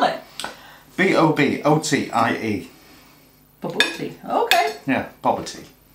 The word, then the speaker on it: bobotie: Oh, ba-boor-tea, ba-boor-tea. Yeah, don't tell me what it's called. How do you spell it? B-O-B-O-T-I-E.